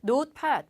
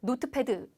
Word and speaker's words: notepad: notepad 발음 조심하실게요. 노트패드 아니고요.